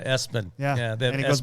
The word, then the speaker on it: ESPN: Kennedy has a young man whose name is spelled ESPN. Yeah, Espen.